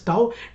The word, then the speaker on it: tau: symbol called a stub this is called as tau t a u that is how it is pronounced as so tau is equal to force